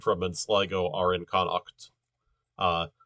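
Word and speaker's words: Connacht: are in connect uh connect is spelled uh c-o-n-n-a-g-h-t or c no wait no uh c-o-n-n-a-c-h-t right uh that you know that that in irish that sound is written as uh the the her sound is written as ch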